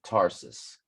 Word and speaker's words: Tarsus: Or Tarsus, excuse me, Tarsus. And I called it SARS. I thought the T was silent, like tsunami, but yeah.